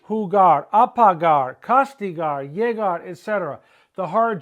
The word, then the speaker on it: llegar: The G, when followed by A, O, or U, is ga, go, gu. It is a hard G. But G, when followed by I or E, is a soft G. He or he, right? He or he. So all these verbs are the hard G.